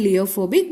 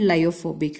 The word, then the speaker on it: lyophobic: I usually pronounce this as leophilic and leophobic, but correct pronunciation is lyophilic and lyophobic, right?